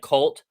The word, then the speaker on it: KVLT: It's YouTube, and that's KVLT, but it's pronounced like Cult Cult.